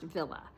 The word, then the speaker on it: Wille: is Ellen Villa and it's spelled w i l l e pronounced Villa so this is Arrow